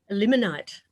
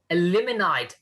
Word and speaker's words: Elliminyt: this morning um this is the community of ellen might am i pronouncing that right kerry eliminate eliminate fantastic that sounds something that sounds like kryptonite